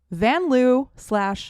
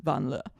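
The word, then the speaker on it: Vanloo: Julie Van Loo / Van Le. We learned during the Olympics that actually her name is pronounced Van Le. And we've been wrong.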